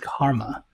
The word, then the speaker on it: CCRMA: music and acoustics CCRMA and that's pronounced Karma that's me well that